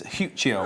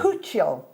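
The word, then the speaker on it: Huichol: How do you pronounce this? Huchiol. Huchiol.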